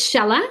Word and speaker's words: Shella: In its original language, you pronounce both, but in the English language, you just rhyme it with Bella.